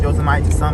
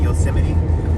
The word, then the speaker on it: Yosemite: we're driving to Y yosim I know it's pronounced yite but I'm calling it yosim but isn't this the place where they got